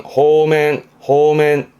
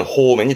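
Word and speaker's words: 放免: 방면해주는 발음은 호맨. 그렇죠. 방면해준다라는 거니까 붙잡아 가뒀던 사람을 놔주는 무죄 방면이라든가 그런 데 쓰는 호맨이 되겠습니다.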